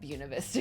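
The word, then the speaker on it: Buena Vista: I also have a video about why I'm pronouncing it Buuna Vista, Colorado.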